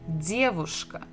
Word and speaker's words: девушка: We have dia, d, dedushka, and here we have bukva v, devushka. And the stress is also the same syllable, the first. Dedushka, devushka.